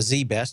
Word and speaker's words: ZZZZ Best: for a long time zzzzz best pronounced Zee best had virtually no customers